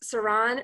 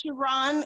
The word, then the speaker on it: Sharon: And is your name pronounced Saran or is it Saran? Or is it's Sharon. It's like an SH. So Sharon is the correct.